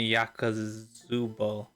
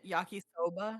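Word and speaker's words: 焼きそば: I can make pasta, udon, and yakazubo. Yakazuba. Yeah, yakisoba.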